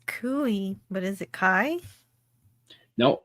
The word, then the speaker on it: Cuy: Kai, I think is how you pronounce it. DJ Playness says Cooey, but is it Kai? No, I bet you he's right. Nope, Cuy. Yep, it's pronounced Cuy.